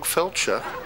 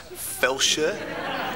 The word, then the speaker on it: Felcher: name what the dog felcher no it's pronounced fel sure no but I thought